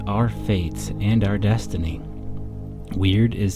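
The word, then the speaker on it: wyrd: Weird, pronounced like the English word weird, but spelled W-Y-R-D, is a Norse and Anglo-Saxon word.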